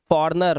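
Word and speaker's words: foreigner: में जी silent रिजाइन फॉरेनर फॉर्नर मतलब क्या होता है परदेसी तो यहां पर जी साइलेंट है अलाइन अलाइन मतलब क्या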